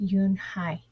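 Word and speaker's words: Unhei: Joey she nodded slowly yes it's pronounced Yoon Hai and it means Grace Mr Kim added Yoon hi Joey said slowly and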